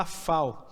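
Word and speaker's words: אפר: A palavra quer dizer novilha ou vaca, né, vermelha, quer dizer, se fala parrá, e cinzas, né, essa cinza se fala afal.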